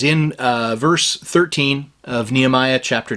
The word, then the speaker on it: Nehemiah: Okay, now, the proper or closer to proper way to say this in Hebrew would be Nehemiah or Nehemiahu. But we often hear it in English as Nehemiah, but it is chapter 2 and verse 13.